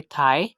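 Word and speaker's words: thigh: कर रहा है तो हमने जी एच को साइलेंट कर दिया। सेकंड एग्जाम्पल है थाई, थर्ड एग्जाम्पल है फाइट, फोर्थ एग्जाम्पल है टाइट, फिफ्थ एग्जाम्पल है लाइट, सिक्स्थ एग्जाम्पल है ब्रॉट।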